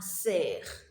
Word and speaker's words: cerf: A deer is called un cerf. Un cerf. That F there is silent.